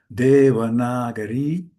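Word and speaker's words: Devanagari: You can pronounce it at home. Deanagari which means literally city of gods.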